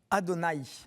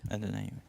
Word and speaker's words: Adonai: Le Seigneur Dieu, effectivement, nos frères juifs prononcent Adonai. Adonai.